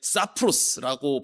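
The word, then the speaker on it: σαπρός: 자, 그러나 여기서 못된이라고 번역된 헬라어 이게 사프로스라고 발음하는 단어인데 어 뉘앙스가 조금 안 좋지 않나요?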